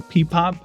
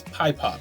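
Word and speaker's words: PiPop: I didn't catch the logo that has the little pie symbol in it, so it's Pie Pop, not Peepop, it's Pie Pop.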